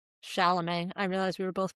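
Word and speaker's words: Chalamet: next victim to take down and last Timothy Shamlet. Not that he shouldn't get Shalamé. I realize we were both pronouncing it wrong all did I say Shyamalain Shamlet?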